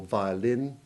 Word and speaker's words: violin: the second vowel where it is unstressed and has a weak ivy sound, as in the O of violent, or violin, or the first A in that awful word, diarrhea.